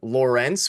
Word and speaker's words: Lorentz: We saw Steven Lorentz, which is the correct way to pronounce it.